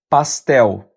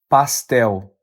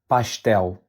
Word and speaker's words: pastel: The correct pronunciation is pastel. Once again, pastel. Now, pronunciation can vary depending on the region. So you might also hear it pronounced as pastel or even pastel.